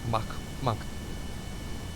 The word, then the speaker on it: Mach: I think it's, yeah, cause it's like, it's a K. It's Mach. So yeah, we are doing well over Mach 1 right now. So Mach 2 is not out of the question with our rate of acceleration.